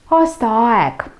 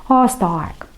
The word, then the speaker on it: aastaaeg: Aastaaeg. Aastaaeg. Время года. Ударение. И на первое слово aasta, и на второе слово aeg. Aastaaeg.